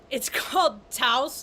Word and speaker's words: Taos: Now, I'm talking today specifically about a town in northern New Mexico called Taos, like house.